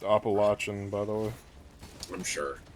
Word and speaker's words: Appalachian: It's pronounced Appalachian, by the way.